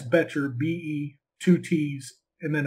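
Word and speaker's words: Bettger: in Selling by Frank Betcher. And it's spelled, his last name is B-E-T-T-G-E-R. So it's kind of, it doesn't sound like it's spelled.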